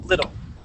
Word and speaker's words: little: T now uh the the word is little so that t you're going to pronounce you're going to pronounce like a D sound little little okay good now we're gonna